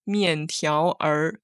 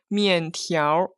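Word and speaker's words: 面条儿: But when I read this word, I don't pronounce all of the 3 characters separately, like 面条 No, this is not right. I pronounce it like 面条. So the last Chinese character is united with the second last Chinese character 条.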